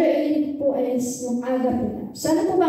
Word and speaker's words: agape: And also, the meaning of agape, this great, it's a Greek word pronounced agape.